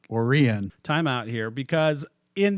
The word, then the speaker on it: Orion: Yeah, Orion is pronounced Orion.